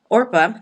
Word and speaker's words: Orpah: Orpah, I think that's how you pronounce it. I think that's good. Boaz. I literally had to listen to it to make sure I got the pronunciation right. Orpah, and You did.